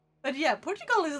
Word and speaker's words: Portugal: Nations I am from Portugal it sounds like Port you gal like if you spell it out you're from Port you yeah okay my